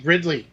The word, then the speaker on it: Ridley: It's Daisy Ridley.